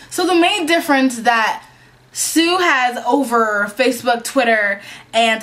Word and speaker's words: TSU: information about TSU um it is pronounced Sue um and it is